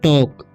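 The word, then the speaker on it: talk: Blue, इसे पढ़ेंगे pink, इसे पढ़ेंगे टॉक, ठीक है, एल साइलेंट है यहाँ पर।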